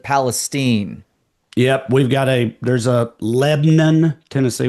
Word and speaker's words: Palestine: Well, there's So, also a Palestine, Texas, but they pronounce it Palestine.